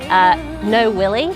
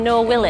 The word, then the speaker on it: Noel Wiley: will have noticed that the way he pronounces his name was No Willie. He was like, "You got through to Noel Willie," and I was like,